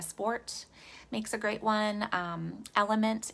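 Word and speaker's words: LMNT: makes a great one element is another great brand but that's spelled l-m-n-t and then the one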